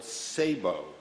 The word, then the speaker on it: SABEW: Earlier this week, I gave a presentation to an organization called SABEW, I guess is the way you pronounce it, S-A-B-E-W, which is made up of all of the major newspapers and media.